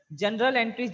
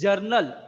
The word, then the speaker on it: journal: जनरल entry बोलते हैं, that is नॉट जनरल, इट इज जर्नल।